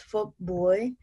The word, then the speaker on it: Phuc Bui: It's Phuc Bui. And the way it's spelled is P-H-U-C and then B-U-I.